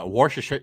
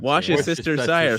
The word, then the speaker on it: Worcestershire: That's where he mispronounced Worcestershire Worcestershire sauce. Wash your sister's sire sauce.